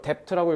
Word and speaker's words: debt: 자, 이거 de트라고 읽으면 듣겠대 안 들려? B 발음 먹으셔야 돼. 해야 돼.